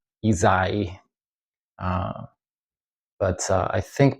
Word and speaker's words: Ysaÿe: Um I almost say with a Z instead of a S. So, uh, is I've heard that quite a bit. So, it's Ezai.